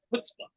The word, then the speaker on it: chutzpah: My attorney's Jewish, and he always says that, but he always pronounces it chutzpah. Chutzpah, that's the right way to say it, but it's spelled CH.